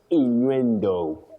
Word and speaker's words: innuendo: So you say inuendo. Inuenduendo. Inuenduendo. Okay. That's a surprise honestly. Inu that is the word. Inuendo. Okay. Inuendo. It is. So guys, it's not innuendo. It's innuendo. All right.